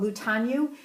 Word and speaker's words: Mutianyu: And so you'll be going to an area called Mutianyu, Mutianyu. That's how you spell it.